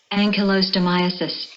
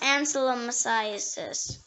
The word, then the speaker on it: ankylostomiasis: The next word is Ankylostomiasis. ankylostomiasis. It can also be pronounced ancylomyositis.